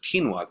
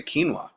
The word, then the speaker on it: quinoa: It's getting pretty Now, expensive to one of the other ways that you've actually told me about was quinoa.